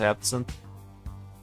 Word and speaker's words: absinthe: kind of you absinthe i guess it's pronounced absent good